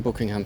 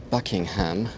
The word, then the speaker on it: Buckingham: Ich sehe zum allerersten Mal den Buckingham Palace in Person. Das war auch wieder eine Northern-Aussprache, ist ja eher Buckingham.